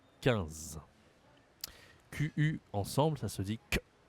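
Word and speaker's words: quinze: 14 15 Attention ici à la prononciation, tu as encore une fois une voyelle nasale 1 comme le 1 ici c'est pareil, c'est 15 et pass.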